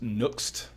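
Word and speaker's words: Next.js: let's jump into it the first one is pronounced next well it's next actually so I'm gonna even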